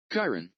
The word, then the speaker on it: Chiron: they called it ready he's gonna play it Kyron there you go Karen okay well that's not what you said okay you didn't you didn't say Karen Kyron yeah he's a Chiron I mean it's a